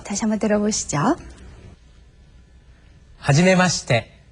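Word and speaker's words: はじめまして: 모범 발음으로 다시 한번 들어 보시죠. 하지메시. 하지메시.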